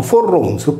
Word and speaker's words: Foroniu: Dagli esempi sopra riportati appare evidente che la divinità di Foroneo, con l'apertura della vocale I in E, scritto Forronio e pronunciato Forronzo, poteva essere solo sarda.